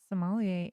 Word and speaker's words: sommelier: about that word is you never know how french to pronounce things right you're like they're like it's just soon from so it's not like somalia it's somalia and you have to say it like all smooth like this that's how i'm going